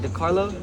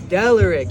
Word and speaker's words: Delaric: DeCarlo. What's his name? He was supposed to perform tonight. Oh, Delaric. Delaric, that's what it Delaric, is.